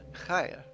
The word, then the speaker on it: Chaya: So I am on planet Chaya right now. Yes, it is pronounced like the Hebrew.